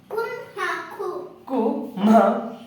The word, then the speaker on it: ಕುಮ್ಮಕ್ಕು: ಕ ಒತ್ತು ಕು ನೋಡಿ ಎರಡೆರಡು ಒತ್ತಕ್ಷರಗಳು ಇದಾವೆ ಎರಡನ್ನು ಕೂಡ ಒತ್ತಿ ಉಚ್ಚಾರ ಮಾಡಿ ಕು ಮು ಕು ಕು ಅಲ್ಲ ಕು ಕುಮ್ಮ ಕು ಕುಮ್ಮ ಕು ಕುಮ್ಮಕು ಕುಮ್ಮಕ್ಕು ಕುಮ್ಮಕ್ಕು